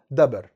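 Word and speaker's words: דביר: بص بيقول ايه بقى في الهامش: كتب الشيوخ الكلمة العبرانية دبر كما هي بالأحرف اليونانية وتلفظ دبر، والدبر بالعربية هو الخلف والمؤخرة.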